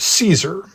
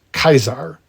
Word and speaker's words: Caesar: actually it wasn't pronounced Caesar but I think it will be too jarring after us being so accustomed to the name Caesar to start pronouncing it in classical Latin as kaisar but in here's another